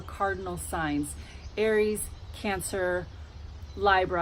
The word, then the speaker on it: Libra: The cardinal cross are the 4 signs, the 4 cardinal signs: Aries, Cancer, LiBRA, I pronounce Libra, LiBRA, and Capricorn.